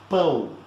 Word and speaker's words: pão: Okay, and in bread in Portuguese is pão. It's a nasal sound, as you can see here, this syllable, "oh."